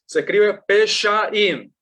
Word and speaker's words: Peshaim: había la pregunta de cómo se escribe Peshaim, ¿sí?